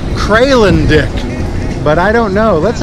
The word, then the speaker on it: Kralendijk: the town of what I'm going to call Kralendijk. But I don't know. Let's ask a local. Bless you. Sir, how do you pronounce the name of this city? Kralendijk. Kralendijk. Kralendijk.